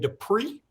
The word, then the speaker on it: Dippre: the best one yet uh sir Jimmy CJ Dupree that's how you pronounce that d-i-p-p-r-e has committed to the University